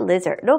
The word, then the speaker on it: leisure: 안전, safety, 그리고 여가, 레저 생활의 그 레저가 leisure로 발음이 된다는 것도 꼭 기억해 두시고요.